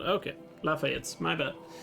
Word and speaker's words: Lafayette: The last E should be silent. Okay, Lafayette's.